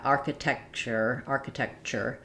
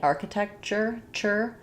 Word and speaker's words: architecture: So yeah, architecture. So in TURE, architecture, it is always pronounced as a CH.